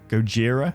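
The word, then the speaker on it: Gojira: another suit for go goira goira is how you say that hire a new suit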